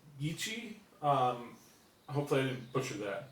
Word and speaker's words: Gychee: Now, the pronunciation of the actual company's model is a little bit difficult. It's Gychee, so like Gychee.